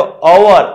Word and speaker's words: hour: तो कि व्यंजन है, कॉन्सोनेंट है, पर हम उसका HOUR लिखा है, तो अवर ऐसे हम उच्चारण करते। अवर करते तो कहां से स्टार्ट हुआ?